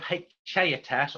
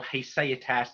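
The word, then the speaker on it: haecceitas: was his concept of haechaetas, or haeseatas, depends how you want to pronounce your Latin.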